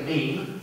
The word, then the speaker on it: meme: is called a mimetic, a meme, yeah, rhymes with cream.